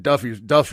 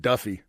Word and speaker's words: Duff: I got Duff's name wrong the other day. Is it Tommy Duff? I kept saying Duffy. It's Duff.